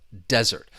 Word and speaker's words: desert: Once again, these heteron follow that stress rule. The verb, the stress is on the second syllable. dessert uh and to desert and the noun stresses on the first syllable, desert.